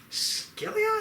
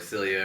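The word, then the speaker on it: Scylla: spider thing called uh skilia I think that's how you say it name it's s c y l a yeah like Celia or skilia but anyways after killing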